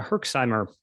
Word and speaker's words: Herxheimer: when you take the antibiotics you have this herxheimer if I'm pronouncing that correctly which is kind of like this hellish State can you explain what a herxheimer is yes so a Herkimer it's actually called a yerish Simer reaction that's